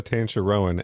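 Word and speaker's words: Tanchareun: everybody's been on arrow uh we've got marissa tantarowan i don't know how this is so complicated oh my god cancer rowan thank you for this gift marissa tancher rowan as khanna uh hanzo hasashi's wife uh marissa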